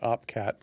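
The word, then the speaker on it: OP_CAT: Quantum Cats represent, I think, the culture and the ethos behind upgrading Bitcoin with an OpCat, or some people pronounce it OP-Cat, upgrade, which is a soft fork proposal to Bitcoin.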